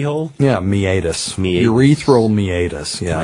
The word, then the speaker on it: meatus: What's the meatus? But it's spelled meatus, M-E-A-T-U-S. So that's great. A few people have mispronounced it meatus.